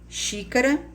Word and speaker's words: xícara: observe alguns exemplos ch xícara que tem som de ch mas se escreve com